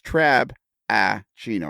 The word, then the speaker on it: Trabachino: the jack travis trabajino it's trab ah gino it's three syllables really is what you're talking about there uh sounds like four